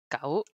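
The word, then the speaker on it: 九: Is gao. What? Okay, Is it Gao or wait, Gao? it's just the same as dog, dog, dog. They have the same pronunciation.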